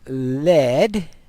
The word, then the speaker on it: lead: apparently the answer is lead and notice here in this case it rhymes with red and a head metal